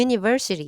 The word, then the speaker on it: universal: 아니라 글자가 모음이라 하더라도 실제 발음이 J 기 때문에 기 때문에 A Universal 이렇게 쓰셔야 돼요 자 그다음에 어는 아까랑